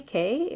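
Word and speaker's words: Cay: and now we're at Castaway K or key depending how you say it um so this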